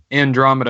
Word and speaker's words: Andromeda: just said Armageddon andromida Andromeda is how you pronounce it but hence forth I